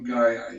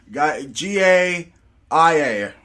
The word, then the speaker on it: Gaia: on Gaia.